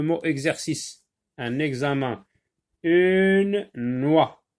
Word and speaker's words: noix: Une noix, donc X ici ne se prononce pas.